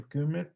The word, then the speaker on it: Kummer: de apellido Kummer, bueno, creo que se pronuncia Kummer porque es alemán.